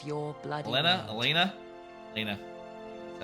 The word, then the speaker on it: Elena: Elena.